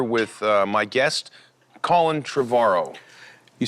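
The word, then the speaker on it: Trevorrow: uh my guest colin trevaro you said it right finally trevor likes tomorrow yeah there you go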